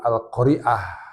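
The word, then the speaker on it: القارعة: Karena namanya suratnya itu Al-Qari'ah ain, bukan alif, Al-Qari'ah.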